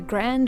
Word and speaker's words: Grande: the Black Swamp and it's very important that there's an e a silent E on Grand and a silent E on Royale and a heavy metal a heavy metal o on the o of UK list that's Sher and Jason